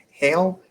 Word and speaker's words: Heil: And so you got people like Lowe and I think he pronounced it Hale, H-E-I-L. I always say Heil, but Heil, that sounds right.